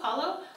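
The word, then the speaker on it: Kahlo: call low Carlo payLo it's k-a-h-l-o Frida Kayla Kalo was a Mexican artist best known for her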